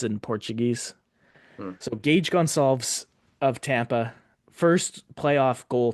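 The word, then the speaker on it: Goncalves: Well, it's the very subtle difference between like the the Portuguese pronunciation and the Spanish pronunciation. Um, it's Gonzalez in Spanish. It's Gonzalz in Portuguese. So, Gage Gonzalves of Tampa, first playoff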